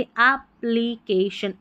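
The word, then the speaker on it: application: पूरी स्पेलिंग बन गई एप्लीकेशन एप्लीकेशन एप्लीकेशन double P है ना इसके लिए एक ही साउंड आ रहा है प का अलग-अलग नहीं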